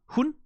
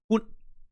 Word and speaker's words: hun: The difference between saying she and saying dog er hun. That's she. Hun. That's dog.